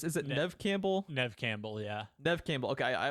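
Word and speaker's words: Neve Campbell: is it is it Nev how do you pronounce is it Nev Campbell Nev Campbell yeah Nev Campbell okay I I'm always thrown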